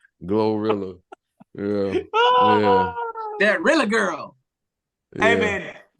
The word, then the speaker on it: GloRilla: Goa glorilla glor glorilla he said gorilla glorilla yeah that girl hey